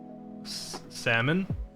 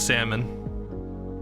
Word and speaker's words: salmon: started talking Jose says you don't pronounce the L so it's like salmon oh I don't I don't yeah it's salmon some people kind of